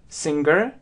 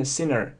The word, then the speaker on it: singer: Это носовой звук, н, То есть, в принципе, может слышаться как singer, singer, но на самом деле, если посмотреть транскрипцию и правильное произношение, то именно sinner, sinner, sinner.